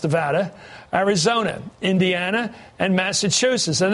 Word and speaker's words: Nevada: Nevada, that's pronounced Nevada, Arizona, Indiana, and Massachusetts.